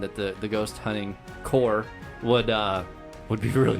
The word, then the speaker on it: corps: it's core is it core i thought it was corp i don't know pronounce the core it's spelled corp do you say marine corpse that's the marine corps i'm not gonna go